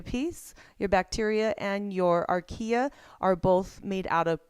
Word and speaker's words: archaea: We have ourselves a bacteria, we have ourselves a archaea, is how you say it, and then eukarya.